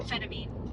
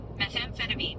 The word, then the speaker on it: methamphetamine: Methamphetamine. Methan- methan- methan- phetamine. Methamphetamine.